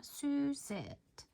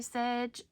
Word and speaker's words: Suzette: I said it right that time, Suzette. Suzette, Suzette, Suzette. anytime y'all hear me say sedge during this tutorial, I mean Suzette.